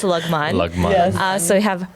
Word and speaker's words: Lagman: That's actually how you say it. It's Lugman.